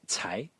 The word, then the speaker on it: 才: so as I said this uh character is pronounced Tai is composed only of three strokes and there